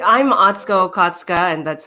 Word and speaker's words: Atsuko: still thinking about Katrina's microphone my name I'm atsco and that's how you say it uh nice